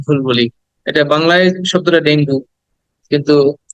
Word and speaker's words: dengue: বলি এটা বাংলায় শব্দটা ডেঙ্গু কিন্তু ইংরেজিতে বললে বলতে হবে ডেঙ্গি ডেঙ্গি ডেঙ্গি হ্যাঁ ডেঙ্গু